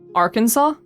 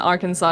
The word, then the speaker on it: Arkansas: Wait, Nitty, how do you pronounce Arkansas?